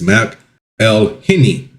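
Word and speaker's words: McElhenney: Um, I was going to say they have like the speaker where it's pronounced pronounced, but they have like a breakdown of it. It's M L Henny.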